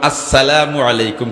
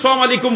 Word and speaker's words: আসসালামু আলাইকুম: কোনদিন সালাম আলাইকুম হইতাম না, আসসালামু আলাইকুম হইতাম না, কইমু আসসালামু আলাইকুম।